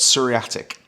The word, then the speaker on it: psoriatic: But seriatic, that's derived from the same word psoriasis. So, that's silent P with a silent P.